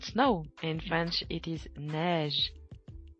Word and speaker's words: neige: In French, it is neige. Pronounce it with me.